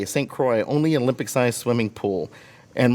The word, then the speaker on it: St. Croix: Much of us know this story after Hurricane Hugo destroyed, how do you pronounce that? St. Croix. St. Croix, only Olympic-sized swimming pool.